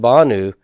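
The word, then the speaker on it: בָּנוּ: And so the last 2, lanu and banu, nu is not a heavy ending. It's a light consonantal ending. And so I'm going to leave the stress on the first syllable.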